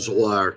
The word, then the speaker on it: Zoar: And then when Lot had entered into Zoar, is that how you say it? Zoar, yep.